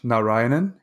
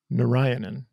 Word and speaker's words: Narayanan: Narayanan, and I'd like you to say it also. Narayanan.